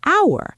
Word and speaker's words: hour: The H is completely silent. You never hear it. So, the first sound you actually make is ow, and that's a vowel sound.